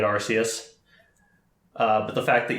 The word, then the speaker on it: Arceus: pokemon legends arceus um i'm gonna call it arceus because i'm i'm pretty sure that's how they pronounced in all the marketing um i'm used to calling it rcs uh but the fact